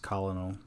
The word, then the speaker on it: colonel: correctly addressing him correctly i think it's pronounced colonel for those who don't know colonel is not spelled anything like you would imagine it's not phonetically correct you know believe me